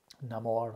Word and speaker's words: Namor: Namor, how you say his name.